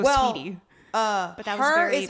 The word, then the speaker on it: Saweetie: Yeah, it is Saweetie though. I know it's Saweetie, but I don't think you pronounce it Saweetie. You just go Sweetie.